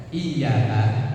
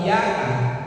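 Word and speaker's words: إياك: Kalau nggak ditekan artinya iyyaka itu yang benar pakai tasdid, artinya hanya kepadamu na'budu kami menyembah, wa iyyaka dan hanya kepadamu Allah nasta'in kami minta tolong. Tapi kalau iyyaka bacanya lurus tanpa tasdid, tanpa ditekan, artinya hanya kepada sinar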